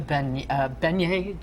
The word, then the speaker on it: beignet: If you go to McGee's and have a donut, or you go to Doodles and have a beignet, did I say it right?